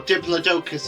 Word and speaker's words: Diplodocus: it's a sorod and it's diplodicus or Diplodocus as some folks will call it but I think diplodicus is more commonly pronounced she is a lovely